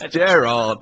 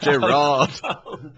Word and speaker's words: Gerrard: Oh, it's Gerrard, not Gerard.